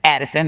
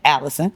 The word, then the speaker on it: Addison: It's Addison. I was saying Allison.